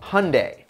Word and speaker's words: Hyundai: yeah we're talking about hyundai which rhymes with sunday and their genesis hyundai